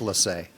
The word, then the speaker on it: Lace: You want to know, it's actually pronounced Lassay.